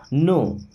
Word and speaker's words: know: How means होता है कैसे, डू यू मीन्स आप, नो यहाँ पे आपको बताया गया था कि इसमें के और डब्ल्यू साइलेंट होते हैं ना।